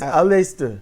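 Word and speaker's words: Aleister: It's Alistister.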